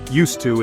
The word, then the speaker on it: used to: all right quick recap used to is for past habits or States no longer true pronounce it like you to this helps you sound